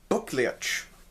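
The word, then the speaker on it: Buccleuch: from the dukes of buklic and that's spelled b-u-c-c-l-e-u-c-h because english people have crazy names but the actual founder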